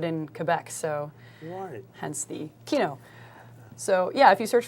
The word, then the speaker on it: Kino: sure it's uh w-i-s-dash k-i-n-o Kino based on the not English word but it's like French German and a couple other languages Kino for movement or film